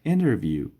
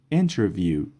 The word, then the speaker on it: interview: How was your interview? How was your interview? در انگلیسی محاوره T بعد از N تلفظ نمیشه.